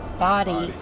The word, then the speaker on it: Bodie: we got something out of stopping at Bodie. We got our Bodie. It's spelled Bodie.